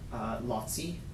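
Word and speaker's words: Laci: Her other brother had a son, Lotzi. It's spelled L-A-C-I.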